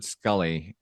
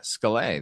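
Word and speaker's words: Scollay: the big one yeah skully square if you look at the word skully written out s c o l l a y scala that's what it says right no not if you're from Boston and they there's a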